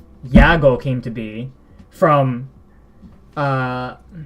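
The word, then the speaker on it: YAGOO: CEO received the name Yago. In English, a lot of people will call him Yagu because, you know, goo. but in Japanese they'll say yago.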